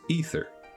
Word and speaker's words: aether: They pronounce a word spelled like aether as ether.